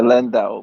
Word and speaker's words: Landau: Is it or am I mispronouncing it? Uh Landau, but Landau.